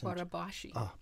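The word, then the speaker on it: Barabási: It's fun too that like Jane is head of our research and development and tying in what Barabosi. How do you pronounce that? Mr. Linked. He's Barabashi. Barabashi.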